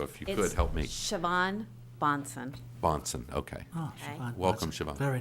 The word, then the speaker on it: Siobhan: when you uh to to get the correct pronunciation of your name so if you could help me siobhan bonson bonson okay welcome siobhan thank you i'm